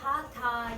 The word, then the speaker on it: Hatha: You say the H before the A and the first syllable.